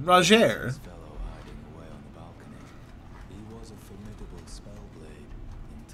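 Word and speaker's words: Rogier: roger oh that's how you say his name roger was a formidable spellblade in times past don't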